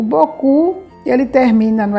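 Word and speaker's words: beaucoup: sabe que é Merci boku o bocu Ele termina não é com o p o p essa consoante a gente não pronuncia mas a gente sabe que na grafia existe né Tem justamente bo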